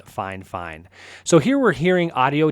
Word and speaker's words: FiFine: So it's spelled fifine, but I've heard it pronounced fine fine.